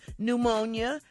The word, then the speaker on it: pneumonia: uh number two is pneumonia because the p is silent now let's see if